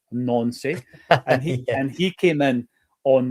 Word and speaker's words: Nancy: Now, I know that that's definitely pronounced Nancy.